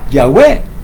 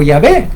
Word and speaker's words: Yahvé: En resumen, los masoret gramatón, entonces ahora se pronuncia Yahwé o Yahvé, cualquiera de las dos formas, como dije, son la